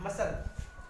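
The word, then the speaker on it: muscle: अब देख लीजिए यस के बाद मसल, मसल, यहाँ पे सी साइलेंट है, एस के बाद सी आ गया।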